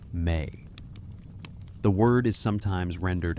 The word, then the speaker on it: me: Me pronounced may.